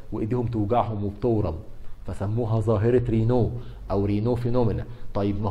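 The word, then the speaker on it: Raynaud: دي عندها ظاهره، عندها سبازم في شرايين ايديها، ظاهره بيسموها رينو فينومينا. رينو فينومينا، في ناس ينطقوها راينودز فينومينا، انطقها زي ما تنطقها، بس هو الصح رينو، لان هو منسوبه لدكتور فرنسي اسمه موريس رينو، هو اللي وصف الظاهره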